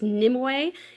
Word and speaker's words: Nimu: And then finally, this stunning highlight which is pronounced nimu.